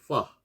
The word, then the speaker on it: ف: 그래서 파 경우에는 파는 발음이 영어 F하고 발음이 같아요. 그래서 입술 소리죠.